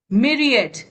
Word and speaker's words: myriad: Myriad, myriad, extremely large in number. How will you remember? Myriad rhymes with a mirror.